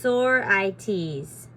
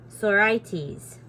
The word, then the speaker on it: sorites: in this chapter is the sorites pronounced oh I'm saying it wrong pronounced Sor IES sores okay the sores is